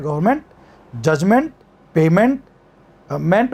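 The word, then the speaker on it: -ment: मेंट, एमिएंटी का जो उच्चारण होता है ना इंग्लिश में, वो मंट होता है, मंट।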